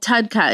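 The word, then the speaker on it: TUDCA: They talked a lot about bile acids of course because one of their signature products is called TUDKA. It's called Advanced TUDKA I think and it's spelled T U D C A.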